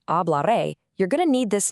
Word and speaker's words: hablaré: The answer is hablaré. Phonetically, we say it like a bla re. Remember, the H at the beginning is completely silent in Spanish.